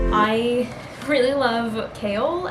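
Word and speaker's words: Chaol: foreign I really love kale I think is how you say the name I sense that like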